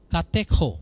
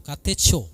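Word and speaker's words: κατέχω: Tetapi saudara, saya akan mengajak kita semua untuk melihat menahan di situ dalam bahasa aslinya adalah kateko, katecho, ya. Kateko bacanya dalam bahasa Yunani yaitu menahan, menjaga keamanan, mempertahankan dengan kuat suatu kepemilikan.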